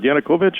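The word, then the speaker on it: Yanukovych: Yanukovich, is that correct? The former president. Very good. You got it. Exactly how you pronounce it.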